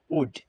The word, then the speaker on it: would: এরপর রয়েছে উড, WOULD, যদি এল রয়েছে কিন্তু এই এল এর কোনো উচ্চারণ হবে না, এটার উচ্চারণ হবে উড।